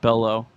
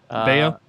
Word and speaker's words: Bello: It's not Bello. Bayo. Bayo, yeah, Bayo.